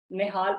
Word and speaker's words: Nehal: तो यहाँ पे आप मेरी प्रोफाइल को जो है वो जाके चेक कर सकते हो, इंस्टाग्राम को निहाल निहाल के नेम से मेरी आईडी है।